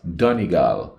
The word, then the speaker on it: Donegal: be about the pronunciation it's Donal now I hope I'm saying it right this time cuz uh